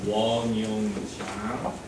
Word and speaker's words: Wong Yong Jang: Yeah, after my presentation, and sometimes it's really hard to pronounce my name. Yeah, Wong Yong Jang.